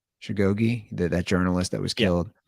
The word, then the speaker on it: Khashoggi: And I know everybody wants to bring up the murder of Jamal how's his name pronounced? Khashoggi, that journalist that was killed.